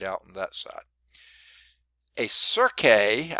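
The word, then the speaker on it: cirque: on that side hey Sergei I think is how you pronounce that it could be just cert but I believe they pronounced it sir kay that is a rounded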